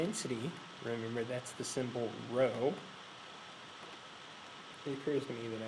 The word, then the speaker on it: rho: remember that's the symbol row it occurs to me that I should probably spell that out for you that symbol is row and that's spelled rho and again that's just